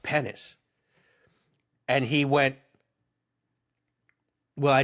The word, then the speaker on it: Penis: Pennis, spelled P E N I S, but pronounced Pennis."